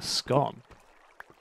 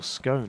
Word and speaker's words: scone: But in America, a biscuit is like a scone, or scone, however you want to pronounce it.